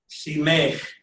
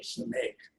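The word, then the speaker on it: סמך: Simech. सीमेख. Don't give me an E. It's a serif. I need A. Simech.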